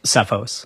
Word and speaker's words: Cephos: And between you personally, because you used to charge personally and then you changed it to CFOs, is that how you say it? Cephos.